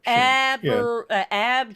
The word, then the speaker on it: abjuration: So I'm just double checking to make sure I pronounce these correctly. It's abjuration.